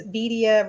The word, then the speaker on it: Vidia: And it's Vidia rhymes with Oh, media.